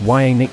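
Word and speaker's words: Janick: Janik Robertshaws, pronounced Y-A-Nick Gers, born January 27, 1957 in Hartlepool, England, is an English musician and one of three guitarists for Iron Maiden.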